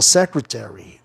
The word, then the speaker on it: secretary: Secretary, lembrando que essa terminação ARY, torna a palavra antiproparoxítona em muitas palavras, né? Ó, secretary, secretary. A palavra é antiproparoxítona. A sílaba tônica cai em SE, na quarta sílaba de trás para frente.